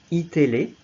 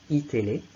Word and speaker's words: iTélé: And you've also got iTélé, that's how it's pronounced, iTélé, which is a news channel.